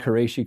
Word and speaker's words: Qurayshi: Am I pronouncing Khaybar and Qurayshi correctly?